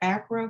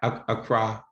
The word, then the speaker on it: Accra: i know that um now is that acro ghana is that how you pronounce it a cry a croc from us